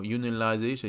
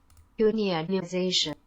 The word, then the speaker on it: unionization: ，形成工会，然后 unionization 就是形成工会的这个名词。 unionization，这个发音是有点困难。